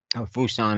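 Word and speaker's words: Pusan: they're lying around uh busan fuson as it's pronounced in korea uh was collapsing again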